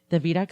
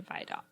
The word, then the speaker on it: Vidocq: The Vidocq Society is sort of I want to say secret society, and I don't think it's definitely exclusive.